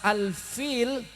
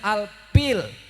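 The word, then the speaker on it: الفيل: Baca surat Al-Fil, fil harus dengan fa, bacanya Al-Pil.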